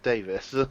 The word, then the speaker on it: Davies: Which is pronounced Davis, of course.